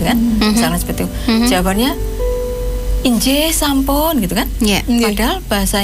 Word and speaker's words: inggih: Kalau injih, yang sering diucapkan injih itu INGGIH. Inggih. Enggak pakai kalau E ya. Iya, enggak Kan ada injih. Iya. Ada yang I, ada yang E. Oh, yang benar adalah I semua ya.